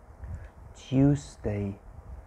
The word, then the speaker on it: Tuesday: my pronunciation monday monday tuesday you need to emphasize the s tuesday not excuse me